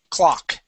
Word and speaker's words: clock: okay so the O the O in this word makes an a sound clock try that clock good